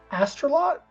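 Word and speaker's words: Astolat: of Lancelot and and Elaine uh Elaine of astalot that's how you say it cuz obviously lanot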